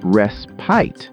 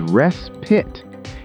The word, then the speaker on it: respite: The first one was a tricky pronunciation. Did you hear how I said the word respite? I said respite, but the correct way to say it is respite.